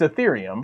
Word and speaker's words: Ethereum: I can't even pronounce it wrong how it was because I've said it right for so long. It's Ethereum.